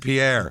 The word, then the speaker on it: Pierre: Pier, South Dakota is how they say it here.